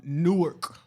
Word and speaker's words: Newark: I'm from Newark, New Jersey.